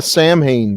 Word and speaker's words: Samhain: as a possible motivation the samhain thing written on the wall that's how it's pronounced just so everyone knows but it doesn't matter